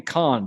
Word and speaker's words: Con: So I don't want to mispronounce this name, but first name Con, C-O-N, last name Tsiolis, Tsiolis.